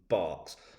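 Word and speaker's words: Berks: their beds bucks and Barks spelled Burks pronounced barks because you know we like to make like we might like to make life difficult for our visitors rest quickly after a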